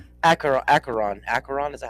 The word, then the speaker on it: Acheron: Acaron. Aaron, is that how you say it? Acheron.